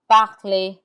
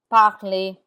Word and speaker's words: parler: There are exceptions to that rule, and the R is not pronounced in words that end in ER. This list of words are mostly verbs like danser, to dance, danser, chanter, chanter. The ER has an A sound like AY, danser, chanter.